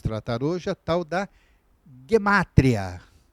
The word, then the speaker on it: gematria: de Israel costuma falaram muitos conhece como gematria bem essa forma mais latinizada de se pronunciar bem G matéria né alguns poderão ver mas a forma como é pronunciado pelos falantes de hebraico é gematria então o g e não tem esse som DJ né então fica g e a sílaba tônica fica no matéria bom então ele vem